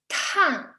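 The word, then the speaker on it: 碳: of carbon carbon and how to say it is tan tan and actually for president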